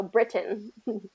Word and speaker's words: Britain: And so when we're saying Britain, we have to say it like the British, right? we can't kind of change that. So I think that's held strong to keep the T, because British English, they keep the T.